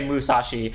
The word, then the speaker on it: Mushi: gonna call it Musashi I know it's pronounced Mushi King I can very much read it but it's like very hard for me not to want to say Musashi so I'm gonna say